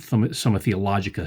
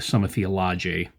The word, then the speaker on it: Summa Theologiae: I did pronounce it right, not Summa Theologica, Summa Theologiae.